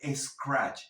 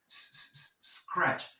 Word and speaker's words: scratch: So, don't scratch, no scratch, no crees una E falsa, no existe scratch, es scratch.